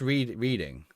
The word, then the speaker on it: Reading: It's pronounced reading.